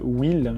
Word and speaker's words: Hwyl: J'ai envie de tester aussi un parfum chez Aesop qui s'appelle Will, je crois, H-Will. C'est pas exactement comment il se prononce.